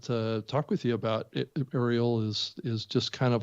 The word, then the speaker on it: Arielle: to stand out so welcome to the show ariel it's great to have you join us thank